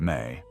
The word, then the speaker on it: me: The me, pronounced may, were the divine ordinances of civilization.